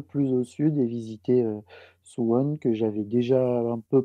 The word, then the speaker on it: Suwon: cette fois en Corée du Sud pour visiter sous one d'ailleurs je sais pas si je le prononce bien il va me le dire dans